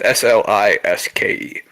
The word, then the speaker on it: Sliske: It's Sliske. like Sliskin. That's how you spell it.